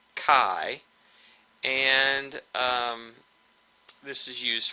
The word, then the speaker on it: chi: like an X here this is actually a Greek letter Kai which we spell out Chi but we pronounce it Kai and um this is